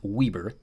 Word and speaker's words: Weber: I know it looks like Weber State, but it is actually pronounced Weber.